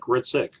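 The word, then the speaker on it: Hricik: My name is Ritzik, and I have it on the syllabus, but it's H-R-I-C-I-K, but it's pronounced like you don't say the H, like Ritzik.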